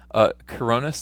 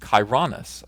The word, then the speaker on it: Chironis: Um, Coronis, thanks for 4.99. My name is pronounced Chironis. Chironis. The Chiron is the fastest car on the planet from Bugatti, and the U.S.